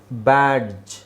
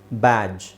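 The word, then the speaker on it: badge: ಯಾವಾಗ್ಲೂ ಸೈಲೆಂಟ್ ಆಗಿರುತ್ತೆ ಓಕೆ ಉದಾಹರಣೆಗೆ ನೋಡಿ ಇಲ್ಲಿ ಡಿ ಹಾಕಿ ಡಿ ಸೈಲೆಂಟ್ ಮಾಡಿ ಬ್ಯಾಡ್ಜ್ ಬ್ಯಾಡ್ಜ್ ಡಿ ಹಾಕಿ ಸೈಲೆಂಟ್ ಮಾಡಿ ಎಡ್ಜ್ ಆದ್ರೆ ಸಾಮಾನ್ಯವಾಗಿ ಇದನ್ನ ನೀವೆಲ್ಲ ಇದನ್ನ ಬ್ಯಾಡ್ಜು ಅಂತಾನೆ ಹೇಳ್ಕೊಂಡು ಬಂದಿದ್ರಿ ಅಲ್ವಾ ಬ್ಯಾಡ್ ಜು ಬ್ಯಾಡ್ಜ್ ಬ್ಯಾಡ್ಜ್ ಜು ಜಡ್ಜ್ ಫ್ರಿಡ್ಜ್ ಜು ಬ್ರಿಡ್ಜ್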